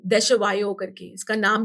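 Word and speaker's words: Desjoyaux: तो मुझे ये स्विमिंग पूल कंपनी थी देशवायो करके, इसका नाम भी प्रोनाउंस करना बहुत मुश्किल है। इट्स DESJYAUX, ओके, है ना? ठीक है, हाँ, समझा नहीं बट ठीक है। देशवायो, इट्स अ हाँ।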